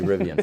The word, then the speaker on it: Rivian: just call it rivian so I need to say rivian from now on okay you know there